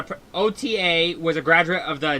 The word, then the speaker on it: Ota: I'm pretty sure it's Ota. pronounced Ota.